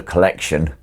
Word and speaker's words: Collexion: According to Sony, it's just pronounced the Collection.